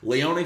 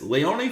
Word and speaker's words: Lyon: 2024 taking place in as I heard correctly pronounced last night Leon France you what I'm saying lion France wherever I I said in the preview but it's Leon France and this episode of SmackDown took place